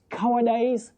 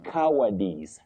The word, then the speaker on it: cowardice: Cowardise. No you don't say cowardice. You say cowardice. Cowardice. Not dice. Just like prejudice.